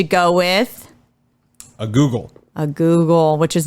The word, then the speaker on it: googol: he decided to go with A Google a Google which is not spelled like Google spelled g-o-o-g-o-l this answer won him